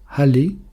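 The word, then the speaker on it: עלה: La feuille en hébreu se dit hal. C'est un aï, un lamed et un e prononcé à la c'est les mêmes lettres.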